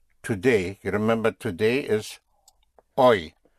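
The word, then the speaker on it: hoy: You remember today is oi.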